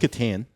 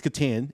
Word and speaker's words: Catan: it's pronounced Catan. Is it Catan? Okay. Yeah, it's Catan, and yes, I have, and I will destroy you.